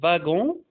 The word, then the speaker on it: wagon: W, الW هنا بتتنطق نطقين، ممكن تتنطق v comme wagon، un wagon، un wagon، أو تتنطق و comme زي un wapiti، un wapiti.